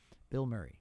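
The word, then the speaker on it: Bilmuri: If you Bill Murray, for the listeners, it sounds like I'm saying a celebrity's name, but it's spelled as one word.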